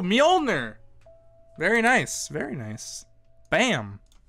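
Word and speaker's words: Mjölnir: quick buzzing persona it what is mjolnir myoner is that's a that's the correct pronunciation too mjolnir very nice very nice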